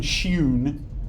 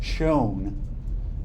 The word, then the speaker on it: shewn: That word, it was written shewn, but they never pronounced it shewn. They pronounced it as shown.